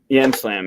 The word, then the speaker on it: Yam Slam: So this is Because it rhymes with slam. Yam Slam, yeah.